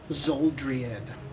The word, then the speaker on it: Xuldreid: Its name is Zuldried. It's spelled Xuldreid.